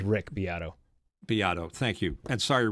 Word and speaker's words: Beato: If you do a Mitch, search you're talking about Beato. I think that's how you pronounce it. Beato, yeah, that's it.